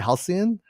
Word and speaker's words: halcyon: unrecognizable from its how do you say that halcyon halcyon yeah new structures built atop the deco